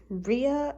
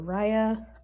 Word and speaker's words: Ria: number 89, that I named Ria or Raya, R-I-A, whatever you want to pronounce her. However you want to pronounce it, I'm sorry.